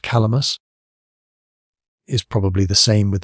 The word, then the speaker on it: Kalamus: 3 miles east of that fortress lies a strong castle, whose name, pronounced Calamus, is probably the same with the Cadmos of Arabian historians and geographers.